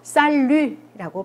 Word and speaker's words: salut: 요거는 끝에 때 발음하지 않아요. 그래서 살루라고 발음을 합니다.